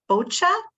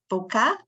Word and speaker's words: bocce: Eager to see the opening ceremonies and to see Nico play bocce. Am I pronouncing it right? Boca? Bocce. Oh, geez, bocce.